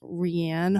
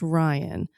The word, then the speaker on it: Rianne: Uh her name is pronounced Ryan. So incredible apologies to you Ryan.